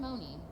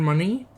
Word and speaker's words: Money: I thought his name was John Money because that's not spelled Mooney. That is not spelled Mooney. That is spelled money.